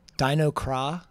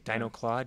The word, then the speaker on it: Dianogah: What are some of the other other pronunciations you hear? Dianogah. That was Dinoclaw, Dinograph. Because people see the G as Dianogah. Dianogah is the biggest one. Yeah, Dianogah. most commonly Dianogah.